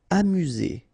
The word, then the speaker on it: amusé: Amusé. Okay, accent aigu at the end, so E, Z.